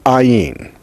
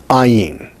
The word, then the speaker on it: ayin: Next is ayin. It is pronounced like the H in hun. It is not like the H in he, which is real close to the front of your mouth.